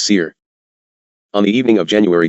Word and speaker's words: CIR: It was recognized by the acronym CIR, pronounced SEIR.